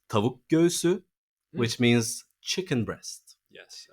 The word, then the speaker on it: tavuk göğsü: Tavugosu. Oh. I love his pronunciation. So it's tavuk göğsü, which means chicken breast.